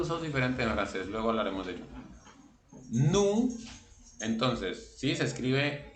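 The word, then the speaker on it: nous: de pronunciación de francés la o y la u cuando están juntas se pronuncian como una u del español normal y la de ese final no se pronuncia y sabemos que la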